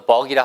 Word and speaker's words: buck: 그러면 box는 BOX는 box. 얘는 buck. 턱이 빠진 듯한 느낌으로 box. buck.